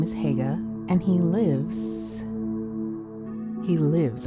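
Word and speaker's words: Haigha: His name is Hega." He pronounced it so as to rhyme with mayor.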